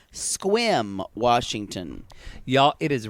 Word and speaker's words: Sequim: is sequence sequins uh it's spelled s-q-s-e-q-u-i-n but he says it Sequim Washington y'all it is